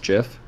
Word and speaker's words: GIF: nope nope spider dot gift indeed the greatest gift in the world you know i i don't